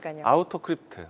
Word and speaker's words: 아우토크립트: 제가이 종목을 두 글자씩 읽다 보니까 힘든데 세 글자씩 읽으면 쉽더라고요. 아우토크립트 아우토크립트 소개해 주신 이후로 좋은 흐름 이어갔던 종목이잖아요.